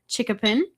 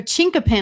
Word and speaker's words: chinkapin: I'm sorry, how did you pronounce it? A chinkapin. I said chickapin, didn't I? You did. We got the pronunciation handed to us. And I'm still going to say it wrong. Chickapin? Chink. Chinkapin.